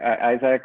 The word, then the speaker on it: Isaac: Isaac or Isaac in Spanish.